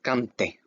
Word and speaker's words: canté: Remember, every time you see an accent, that little slash over the vowels, you pronounce that vowel harder than the other letters, okay? You emphasize it.